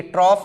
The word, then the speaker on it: trough: ये ट्रॉफ, इसका प्रोनाउंसिएशन ट्रॉफ होगा. And held against the world of hoary grass.